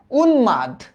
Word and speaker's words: উন্মাদ: ডান না হ্যা ব্রাহ্মণ উন্মাদ ন এর সাথে ম এর তো উচ্চারণ হয় না এটা বারবার কইতে যে আসে এরা হ্যা দেখতো উন্মাদ তাহলে এটার উচ্চারিত রূপটা কি উন মাদ এবার দেখো তোমরা সব